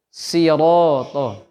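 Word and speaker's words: صراط: Itu so-nya jangan sama kayak sya, Pak ya. Bukan shi, tapi sirato. Sirato.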